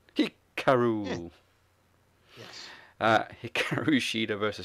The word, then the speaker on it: Hikaru: I us pronounce itar I was going to pronounce it the way um hiar what's her name Dasha pronounces it Hikaru yes uh Hikaru shida